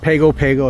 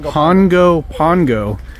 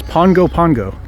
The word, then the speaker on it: Pago Pago: So okay, it's not Pago Pago, it's not Pago Pago, it's Pongo Pongo is how you pronounce it, because in Samoan the G has an NG. Yes. Is pronounced that way in Samoan. So it's Pongo Pongo.